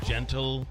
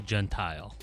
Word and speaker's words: Gentile: I say Gentile. Gentile. Yes. Not genteel or gentle. Gentile's acceptable. That is acceptable.